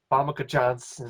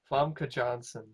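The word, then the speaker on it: Famke Janssen: yeah, Pam Johnson, I can't Famke pronounce. Johnson. Famke Johnson. Famke Johnson. Famke. Famke Johnson.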